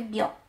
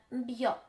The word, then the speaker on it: bio: wątpliwości jest to przedrostek bio jeżeli chodzi o ten przedrostek nigdy nie powiemy bio bi biochemist bi bi czy nawet biography Pamiętajcie zawsze będzie bi jest różnica między bri